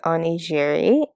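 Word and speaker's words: onigiri: let the night continue i looked up the pronunciation and it is oni jiri and it seems to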